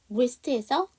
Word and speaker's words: wrist: wrist에서 W가 묵음. 우리가 WR로 시작하는 단어는 W가 묵음이에요.